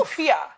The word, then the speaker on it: Accra: You're in Accra, Yes, say it again. Accra.